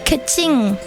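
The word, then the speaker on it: Keqing: Uh Kaching.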